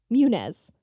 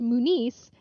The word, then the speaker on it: Muniz: a different name but it's pronounced differently so a lot of people will all the time call me Munez okay yep kind of like Frankie Muniz and they're like oh are you related and like no mine doesn't have a thing over the end and whatever yeah yeah so it's pronounced Moo nice and it throws everyone